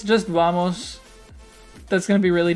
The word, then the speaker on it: vamos: in spanish and portuguese right pronounced obama's in in spanish or vamos in in well in carioca portuguese i don't know how